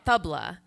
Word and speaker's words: tabla: table but it's uh it's spelled table but instead of an e at the end it's a but you say it Tabla like with a supported T so let's try that